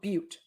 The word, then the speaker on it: Butte: be an interesting one because pronunciation says it's called Butte Butte that's what I thought that's